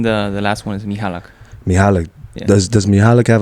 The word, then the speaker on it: Michalak: got to hear it uh mihalak mihalak mihalak that's that's how you say it mihalak so the first name is in Polish and in the the last one is mihalak mialik does does mialik